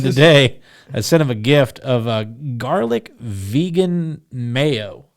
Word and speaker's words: GIF: I sent him this GIF, and he goes, or GIF, sorry. And he goes, I thought it was GIF. that's the way it's supposed to be pronounced, but Okay.